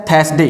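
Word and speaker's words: Thursday: यहाँ पर जो आर है, जो रे है वो साइलेंट, या फिर इसको ऐसा पढ़ सकते हैं थर्सडे, ये भी सही है।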